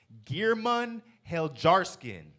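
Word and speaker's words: Geirmund Heljarskinn: it for you I'mma name it first though gearman hel jarin that's spelled GE e i r m u n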